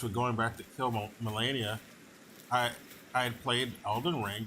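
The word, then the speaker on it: Malenia: I was playing eldering yesterday and I beat Melania or melenia that's how you pronounce the name I've been pronouncing it incorrectly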